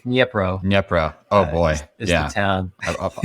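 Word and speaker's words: Dnipro: powerhouse um like denise dunipro right like that i'm not i'm probably butchering the pronunciation yeah i think it's nipro yep bro oh boy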